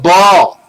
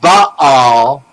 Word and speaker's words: Baal: They are the columns of Baal, B-A-A-L. The two A's represent the two columns, because one A is silent.